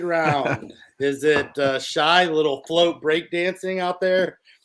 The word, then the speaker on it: Shai: It's Shai Gilgeous-Alexander. Shai, that's right.